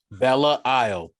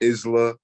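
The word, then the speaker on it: Belle Isle: Bella Isle. Yes. Bella got you. I got you. That's how that's pronounced. It is not Isla. It is not Isla. It's Bella Isle.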